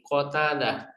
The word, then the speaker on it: Qatadah: Ya, nah Abi Qatadah itu bifatil kofi dengan memfathahkan kof, berarti Qatadah, ko, gitu ya.